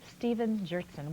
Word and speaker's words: Stephen Gjertson: Welcome to the 700 Club from Minneapolis, Minnesota, Stephen Gjertson. Welcome. Did I pronounce that correctly?